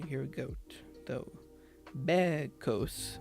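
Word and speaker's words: bekos: the goats were saying first remove the co ending which was added in the Greek version of the story then pronounce be as you would the English word bed without the without D at the end can you hear a goat b b bed bed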